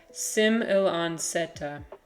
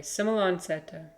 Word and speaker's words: semilanceata: It's pronounced like Sim il an seta. Okay, Sim il an seta.